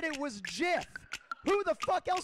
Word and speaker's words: GIF: way it is i understand if you want to call it gif it's your it's your right go right ahead but at this business okay todd it's jiff all right and and